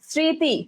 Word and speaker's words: স্মৃতি: তাহলে বলছে শব্দের প্রথমে যদি মফলা যুক্ত হয় তাহলে মফলা এর উচ্চারণ, দেখো মফলা এর উচ্চারণ করতে হবে না, অর্থাৎ মফলা এর উচ্চারণটা হয় না, শুধুমাত্র যে ওয়ার্ডের সাথে থাকবে ওই ওয়ার্ডটাই উচ্চারণ হবে।